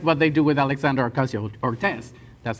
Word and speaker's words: Ocasio-Cortez: It's like what they do with Alexandria Ocasio-Cortez.